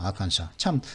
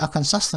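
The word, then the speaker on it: Arkansas: 아칸사. 참고로 이거 S가 있는데 아칸사스 하면 안 됩니다.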